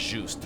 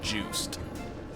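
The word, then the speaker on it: Juste: And yes, I know now that his name is pronounced juic, not juiced. Thanks, Castlevania Nocturn. Didn't know he was French.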